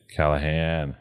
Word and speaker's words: Callaghan: that's not a lot the g is silent in my name callahan so you're irish in